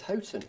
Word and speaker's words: Houghton Le Spring: He says Houghton. Houghton. Well, this is going to happen through the night. Houghton Le Spring. Exactly, Chris. I think it's Houghton.